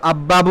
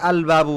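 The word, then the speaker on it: البابُ: লামের উচ্চারণ হবে না মনে করেন যে বা আসলে লামের উচ্চারণ হবে আল বাবু দরজাটি আমরা কি আব্বাবু বলব নাকি আলবাবু বলব?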